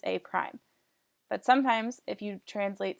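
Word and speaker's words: A′: So we already know that if we see A apostrophe, it's pronounced as A prime.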